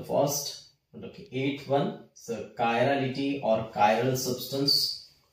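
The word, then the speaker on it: chiral: के ऊपर, कायरालिटी और कायरल, हिंदी में लिखता हूं मैं कायरल ताकि प्रोनाउंसिएशन में गड़बड़ ना हो, ठीक है।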